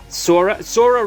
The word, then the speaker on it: Sora: Sora rhymes with aura, by the way.